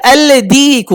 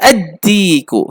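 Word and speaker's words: الديك: আল দিকু, কঠিন উচ্চারণ করে। আল দিকু, কঠিন উচ্চারণ করে। কি বলে তাহলে? আরে লাম বাদ দে আর, লামটাকে দাল দিয়ে উচ্চারণ করা। আদ্দিকু, কি হয়ে যাবে?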